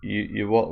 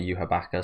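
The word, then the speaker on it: Yhwach: but I don't know it's spelled you what but it's said in the anime uaka so maybe I just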